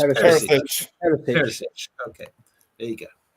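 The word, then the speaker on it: Perišić: And I'm getting a correct pronunciation. Perisic. That's not right either, is it? Perisic? It's Perisic.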